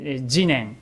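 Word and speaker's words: 自然: We pronunciation jinen, and it's the nature of itself and things as they are.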